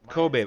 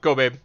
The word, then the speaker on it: Kobabe: today by the way cool babe all right all right I was wrong go babe my bad I think I mean